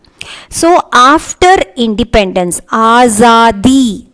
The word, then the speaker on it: आज़ादी: So after independence, आज़ादी, see जा இருக்கு, ஜாக்கு கீழே you have a dot here இல்லையா. So you have to pronounce this as za.